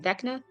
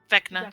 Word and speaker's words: Vecna: Vinka, how do you pronounce his name? Vecna. Vecna.